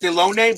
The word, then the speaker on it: Dilone: bob force looking in delone that's how it's pronounced dilone but it's okay deloney all right so miguel